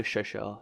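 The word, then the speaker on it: Chauchat: But I know Chauchard is correct.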